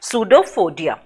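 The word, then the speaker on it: pseudopodia: Okay, with its finger like projection, that's that is called false feet, and we pronounce that word as pseudophodia.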